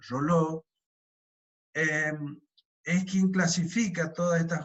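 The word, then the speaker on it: Reuleaux: También, como les dije, Rolo, Realeau, se escribe Realeau, pero se pronuncia aproximadamente Rolo, es quien clasifica todas estas juntas, y a estas juntas completas también se les llama pares inferiores.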